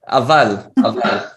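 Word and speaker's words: אבל: Aval. Eh? Avad. How do you spell that?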